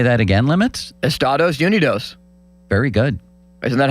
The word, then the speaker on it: Estados Unidos: It's our country is pronounced Estados Unidos in Spanish-speaking countries. Is it? Yeah. Can you say that again, Limits? Estados Unidos.